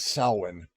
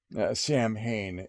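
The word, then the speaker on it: Samhain: warlock whose Patron is salwin Sam Hayne if you uh pronounce it with an American town and uh the the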